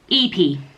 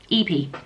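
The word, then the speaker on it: Ypi: How do you pronounce the surname EP? EP. EP.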